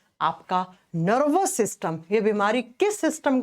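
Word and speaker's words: tsetse: सी सी फ्लाई लिखा जाता है टी से। प्रोनाउंस करते हैं एस से।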